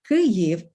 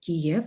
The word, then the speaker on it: Kyiv: ef so by now most people know that kirif is the ukrainian word and kiev is the russian word ukrainians have been using